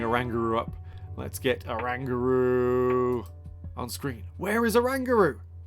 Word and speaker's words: Oranguru: at the moment and all of them have a rangaroo which is how you pronounce it it's not oranguru some of you out there are thinking it's